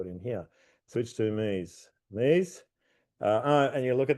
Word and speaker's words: Mise: Mise. My understanding, that's the pronunciation, because it's from the mise en place, or everything has its place, or something like that.